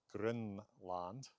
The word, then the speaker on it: Grønland: been pronounced back in Eric the Red's day Grønland. Now, that first vowel is spelled different ways.